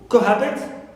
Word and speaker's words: cohabit: Cohabit on ha, not on co.